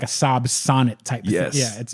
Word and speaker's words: Sonett: you what a Saab Sonett looks to a sonnet to Saab Sonett oh yeah so it's spelled weird it's s o n ET t so that's that's the sonnet see the overhang on